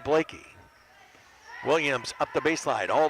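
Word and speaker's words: Bleeke: She'll throw it back out to Blakey, who spells her name B-L-E-E-K-E, but it's pronounced Blakey.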